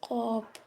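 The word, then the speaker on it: ق: যেমন আগ আগ আগ চার নাম্বারে আছে কফ জিহ্বার গোড়া তার বরাবর উপরের তালুর সাথে লাগিয়ে উচ্চারিত হয় কফ কফ মোটা আওয়াজে কফ যেমন আক মোটা আওয়াজে কফ যেমন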